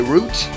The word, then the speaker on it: route: Some people say route, R-O-U-T-E, I say route, because that's how I pronounce it. Plus there's no confusion with the word route, R-O-O-T.